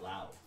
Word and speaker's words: Lowe: He's, he pronounces it Lau.